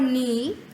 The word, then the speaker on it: knee: e feet sleep in the word knee K is silent so it's um let's